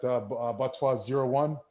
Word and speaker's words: BATS-TOI: It's not BATS-TOI, even though it's phonetically spelled that way, but BATSTOI.